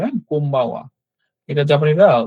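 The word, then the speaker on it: こんばんは: এটার উচ্চারণ কিন্তু অ্যাকচুয়ালি এম হবে। হ্যাঁ, এখানে এন লেখা। এটা কেন এম হবে? এখানে বি যেহেতু আছে, এটার উচ্চারণ কোম্বাওয়া হবে। হ্যাঁ? কোম্বাওয়া।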